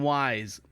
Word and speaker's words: Weiss: Weiss is wise on the line with us right now we have Weis you're on the phone with us so my last name is pronounced wise wise hence the owl mascot now you spell that